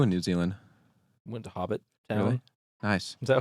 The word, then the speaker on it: Hobbiton: Went to Hobbit Town. Really? Nice. Is that how it's pronounced? Hobbiton? Hobbiton.